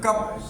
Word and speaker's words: cup: अब है कप, कप means क्या होता है प्याला। अब कप की स्पेलिंग क्या होती है CUP, कप, कप मीन्स क्या होता है प्याला।